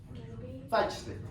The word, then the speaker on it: Zeitschrift: have German professors, you have to correct me, Zeitschrift? Is that how it's pronounced? Zeitschrift.